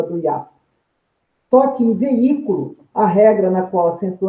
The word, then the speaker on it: veículo: e proparoxítonas e não veículo é uma proparoxítona porque a sílaba tônica é a antepenúltima sílaba a atenção à posição